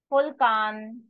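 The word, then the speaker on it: Vulkan: Fulkan. Fulkan. Volcano. Fulkan. Full can't. Way wine, wine is wine, the spelling is different then English but yes wine is wine in German.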